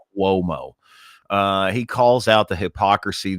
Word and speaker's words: Cuomo: Cuomo. Put an invisible W in there. Cuomo.